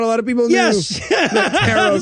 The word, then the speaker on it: tarot: goes uh witches use tarret cards carrot which rhymes with carrot not a lot of people yes tarot cards rhymed with carrot cards yeah no and he's